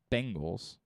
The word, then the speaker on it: Bengals: same thing too bengals they're very different it's tangles literally hang on i'll even spell it out for you one of them looks like this bengals b-e-n-g-a-l-s the other one is this b-a-n-g-l-e-s bang bangles bangles there's bengals bengals bangla bangla